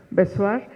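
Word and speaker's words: Bezoar: Piedra Besoar, así se pronuncia, Besoar, está en internet, lo pueden buscar y pueden consultar los libros, ¿no?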